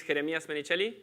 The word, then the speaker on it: Jeremias Menichelli: introduction about myself this my name is Jeremy especially that's how it's pronounced in Spanish she can pronounce it